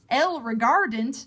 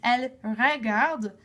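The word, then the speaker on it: ils regardent: the ENT and again that ENT is silent so it's not El regardant that doesn't make any sense it's elard with the silent E N I hope that this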